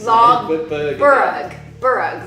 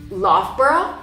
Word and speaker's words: Loughborough: okay, so we would say, I would say log. Well, I know how to say it the right way. Log burrug, log burrug, Yeah. right? And And the it's- correct one is? Loughborough.